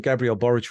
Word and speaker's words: Gabriel Boric: Karen Chilean president and forgive my pronunciation uh is it Gabrielle boric because it sounds like a Slavic yeah okay yeah okay um so president Gabriel boric recently initiated a plan